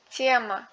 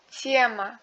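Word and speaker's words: тема: En russe, la voyelle accentuée du mot se prononce comme une voyelle double. Kassa, maska, tiema.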